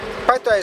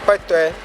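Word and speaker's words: Kpetoe: Kpetwe is spelled K-P-E-T-O-E, Kpetwe.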